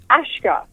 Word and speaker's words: Ashka: No, it's not Ashley. It's actually Ashka.